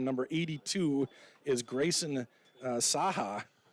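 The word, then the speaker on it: Cahak: 82 is Grayson uh Saha I think is how you say his name all of it it's not the way that's the way you should see it that's cool but it's spelled uh c-a-h-a-k but one of their coaches gave us the pronunciations okay all right first down and at 10.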